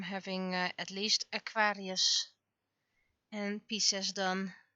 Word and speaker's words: Pisces: at least Aquarius and Pisces done. Pisces. I always try to pronounce it the Latin way, because I had a teacher and they were very strict about Latin pronunciation.